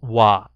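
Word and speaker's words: は: of the time like is always pronounced as wah even though it's written the word ha so you do not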